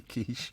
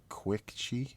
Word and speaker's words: quiche: Now, if I was to pronounce it another way, you don't have like to mispronounce things. What would I have to pronounce that as? Like quick chi?